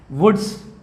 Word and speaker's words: Wurtz: और sodium metal के साथ होने वाले रिएक्शन का नाम है वुड्स रिएक्शन। स्पेलिंग प्लीज़ ध्यान से नोट करें, WURTZ, वुड्स रिएक्शन।